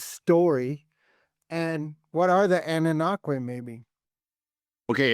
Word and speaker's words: Anunnaki: And what are the Anunnaki, maybe? Okay, it's pronounced Anunnaki.